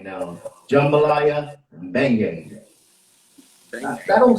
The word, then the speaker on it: beignet: Jambalaya and beignet. That don't sound right though. Somebody say the right word. Beignet. Beignet? Yeah. Beignet? Beignet. The G is silent.